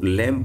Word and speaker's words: lamb: जो बी आता है, एम के बाद में जो बी आता है वो हमेशा क्या रहता है? साइलेंट रहता है। इसलिए मैंने क्या पढ़ा, इसको लैम्ब पढ़ा है, बी को नहीं पढ़ा है, क्योंकि बी क्या है, इसमें साइलेंट है।